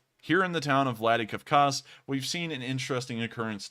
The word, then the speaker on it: Vladikavkaz: Now moving towards the town of, let me make sure I get this pronunciation correct, Vladikavkaz. Here in the town of Vladikavkaz, we've seen an interesting occurrence today.